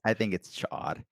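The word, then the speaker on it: Ch'od: Chaod Oh, is the Chode? build of Chaod or Chode, however you want to pronounce it. I think it's Chaod.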